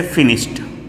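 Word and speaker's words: finished: फिर देखें, जब सौ साउंड आएगा ना, सौ साउंड, तो ये इसमें वाइब्रेशन नहीं होगा, तो आप ईडी का उच्चारण ट कीजिएगा। जैसे फिनिश्ड, फिनिश्ड ट करिएगा।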